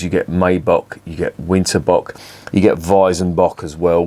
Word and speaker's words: Winterbock: just reviewed the bitburger winterbox or winterbock I should say if I'm going to pronounce it properly in German that was seven percent